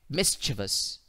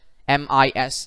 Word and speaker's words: mischievous: the phonetic alphabet so if you were to replace the schwa with uh or u you will get option a mischievous so the correct pronunciation for the word m-i-s-c-h-i-e-v-o-u-s is option a mischievous because if because